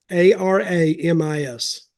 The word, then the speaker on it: Aramis: and apparently Aram arames a r a m i s something like that that's how it pronounced anyway anyway arames we don't say arames down south no we say Aramis Aramis okay aramas we'll